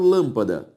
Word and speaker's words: lâmpada: por isso uma palavra proparoxítona se eu separo lâmpada lâ a sílaba tônica é a anti penúltima e por